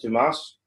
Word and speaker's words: Dumas: Am I pronouncing that right? Is it Dumas?